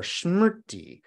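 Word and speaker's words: smṛti: into a focus is called either Sati in the Pali language or shmerty in the Sanskrit language that word pronounced two different ways that word of course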